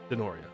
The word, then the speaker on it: Denoria: The G is silent in Denoria.